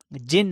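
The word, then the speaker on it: djinn: एक बोरा DJ Amazon तो इससे डिजाइन नहीं पढ़ना यह जिन है क्योंकि इसका डी साइलेंट है और अब हम इस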